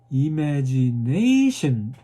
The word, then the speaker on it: imagination: 예, 하나 고르는데 어디에 주냐면 imagination 그 소리에다 스트레스를 줘야 돼요.